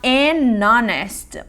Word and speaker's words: honest: Se eu falar a palavra honest, honesto, Um homem honesto, então eu vou falar an honest, porque o H fica mudo, an honest.